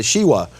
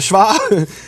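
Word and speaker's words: שווא: studying these things, and he calls it the Shiwa. But no, we call it the Shva.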